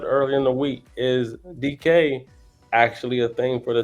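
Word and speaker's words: Dike: But let's talk about Shamir DK. And yes, I said his last name right this time. Y'all ain't going to catch rhymes with bike.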